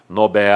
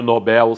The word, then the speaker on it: Nobel: m terminado em 1 todas serão oxítonas quais as duas palavras vistas até agora nobel ao o prêmio nobel seja lá o que for o nobel de literatura nobel da paz não interessa ruim qualquer coisa que tenha essa qualidade oxítona o automóvel está ruim